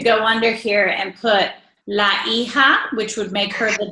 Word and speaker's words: hija: Remember, the H is silent. So repiten, los hijos. Los hijos. And you've got la hija, which is the daughter. And you've got el hijo, which is the son.